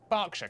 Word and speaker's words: Berkshire: silent Norwich Berwick subuk ER is pronounced R Berkshire Clark and will Hertfordshire